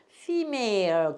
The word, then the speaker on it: female: 얘가 언챙이 f에다가 이때 에라고 안 그러고 이라고 발음을 해요. 그래서 fe를 써. female 그러면 여성이라는 뜻이에요.